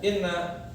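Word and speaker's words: إنّ: salah Nah di sini Kenapa dibacanya Inna ya karena innanya itu ya harokatnya tuh dibaca kasrah gitu ya ini karena yang pertama dia berada permulaan kalam permulaan omongan dimulai dengan Inna maka wajib innanya itu di kasrohkan pada hamzahnya ya ini di sini bacanya Inna maksudnya adalah kasrah ya pada Hamzah jika dipermulaan pembicaraan di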